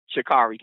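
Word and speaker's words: Sha'Carri: the whole i can't say her name right shakira chicago shikari thing shikari thank you i apologize um and and i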